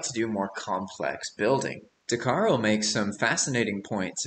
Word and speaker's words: Dhakhar: today I've got an interview for you with darar is that how I pronounce your name yeah that's uh perfect actually